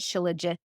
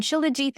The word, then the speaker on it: shilajit: Shilajit. Yeah, Jeet is like I pronounce it Shilajit, but everyone pronounces it in the West right now Shilajit.